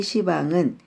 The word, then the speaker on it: 시방: 생각하시면 됩니다 시방 국도의 시방은 10가지 방향을 뜻합니다 환자의 원음 으로는 10박 이라 해 옳지만 불교에서는 가끔 그 발음을 다르게 하는 것들이 있습니다 시방 2 그러하고 도량을 도장이